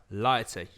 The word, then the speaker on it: Lauty: How do you say that? Ooh. That is a Lyautuy. Lighty. Yep.